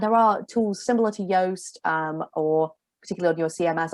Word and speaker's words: Yoast: Next question from Keeping HR Simple is, do you recommend the use of something like, I think it's pronounced Yoast, on a website for SEO checking? Yeah, Yoast is really great actually.